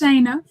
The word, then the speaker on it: Shaina: It's Shaina. It's okay. I just tell people long a long a just Shaya.